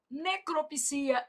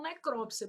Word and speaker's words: necropsia: Misantropo, filantropo, exegese, necropsia. Esse daqui, alguns dicionários já aceitam necrópsia, por isso que eu tô colocando até um uma asterisco aqui para você, tá?